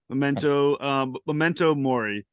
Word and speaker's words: Memento Mori: Star Trek episodes, no bullshit, of all time, Memento Mori, or Mori. Am I pronouncing it correctly? Mori, yeah, Memento Mori.